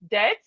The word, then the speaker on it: debt: We have doubt, debt, lamb, thumb, plumber, plumber, thumb, lamb, debt, doubt. So we can see here that the B is silent.